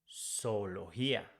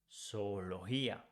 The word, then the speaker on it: zoología: If we change Y for IA, it becomes zoología. Zoología. The same rule here with G. We say zoología, not zoología, no.